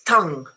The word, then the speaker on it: tongue: And the other one is tongue. Okay, so this U and this O are pronounced exactly the same.